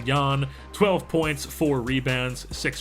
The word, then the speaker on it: Ian: mahimi I don't know I just know his first name is pronounced Yan 12 points four rebounds